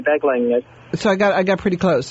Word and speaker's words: Beglinger: And my guest today is, is it pronounced Beglinger? Yes, Beglinger.